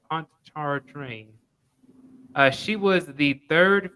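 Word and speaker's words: Pontchartrain: pronounce that uh she it's like pont it's called a pond char train that's what it's called pontar train uh she was the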